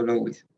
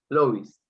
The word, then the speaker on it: Louis: Hola, sí, está bien pronunciado Louis. Louis.